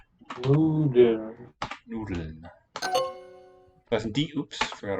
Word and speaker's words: Nudeln: Die Schweine fressen is right because it's an animal, but the word is Nudeln with stress on the first. Nudeln.